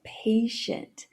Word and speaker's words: patient: Começa com pay, e aí no inglês, quando eu tenho o som do P no começo da palavra ou em sílabas tônicas, ele tem um arzinho a mais. Então você não vai falar só pay, você vai falar pay, pay. E aí, na segunda sílaba, você vai fazer o SH, e aí arredonda um pouco os lábios pro SH. Shunt.